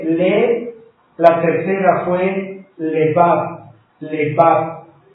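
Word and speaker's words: לבב: Lebab. Con B grande. Lebab. Y acento en la A.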